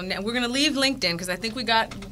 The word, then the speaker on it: LinkedIn: or Linkin how do you say it l Linkin LinkedIn is that you get to find your tribe